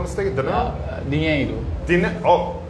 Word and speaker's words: dinheiro: Isn't it dinero? Dinero? In Uh, Portuguese, if I'm not mistaken, dinero? Dinheiro.